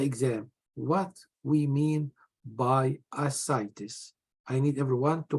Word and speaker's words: ascites: What we mean by ascites? I need everyone to pronounce it correct.